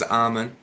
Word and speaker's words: Ahmun: So, well, Ahmun, and recently Ahman, I think I've heard as well. Can we get the exclusive? What's the correct pronunciation? So my name's Ahmun, Ahmun.